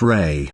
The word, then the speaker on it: Ra: name of an ancient god called Rah pronounced Ray in Egyptian mythology Rah was the